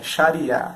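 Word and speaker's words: Xariá: A grafia em português correta, mais próxima da pronúncia original do árabe é Sharia, X-A-R-I-A, acento agudo, tá?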